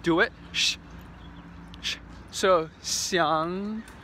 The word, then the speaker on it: xiang: In Chinese, the X sound is pronounced like a sh, sh. So like xiang or xi or xiong.